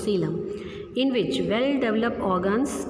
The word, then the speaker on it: coelom: Don't pronounce it coelom, it is coelom, in which well developed organs can be accommodated.